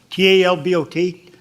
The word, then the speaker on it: Talbot: there how is it yeah how do you pronounce that t-a-l-b-o-t yeah Talbot Talbot yes okay yes good morning